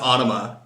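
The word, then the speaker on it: Ænima: drifted we left College we didn't get into Ana their second Al in '96 why are the fans so crazy uh so awesome question first of all it's pronounced Ana so that there's proof enough that you're not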